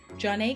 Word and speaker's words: Zhané: To further capitalize on their growing success, Jah-Nay kept busy with numerous features on other artists'